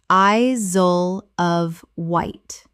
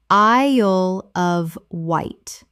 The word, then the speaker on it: Isle of Wight: Connect-i-cut Connecticut Word 120 Isle of Wight Common mispronunciation I-zole of Wight Correct pronunciation I-l of Wight The isle sounds like the word I plus l.